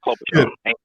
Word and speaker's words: Klobuchar: Klobuchar.